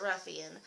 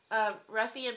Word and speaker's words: Ruffian: okay the next thing is the Ruffian now let me know if I'm saying this wrong because I hear some people pronounce it differently I've just pronounced it Ruffian um the Endless Summer